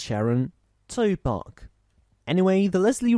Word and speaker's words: Sharon: Two syllables, Sharon.